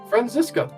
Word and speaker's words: Franziska: Is there a pronunciation? Yeah, Franziska.